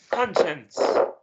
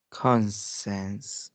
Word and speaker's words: conscience: Shan Shan sh shance conscience consense conscience consense this the c i here is should be sh sound okay sh like